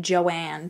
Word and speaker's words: Joan: deborah was born to joan who pronounced it joanne to people i don't